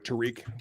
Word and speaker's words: Tariq: They do have a guy who started really hot and was a rookie sensation in Tyreek Woolen. Tariq. Got to pronounce that correctly.